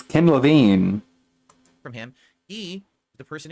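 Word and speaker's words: Ken Levine: been around with Bioshock you don't know how to pronounce his name it's Kim LaVine from him he the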